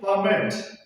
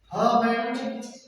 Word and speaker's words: permit: Similarly, permit, permit, permit. Now, permit, the stress is on the first, which means allows.